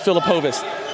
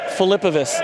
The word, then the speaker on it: Filipovas: And I thought it was Filipovas. He said it's Filipovas. I was like, is that right? He said the O is silent.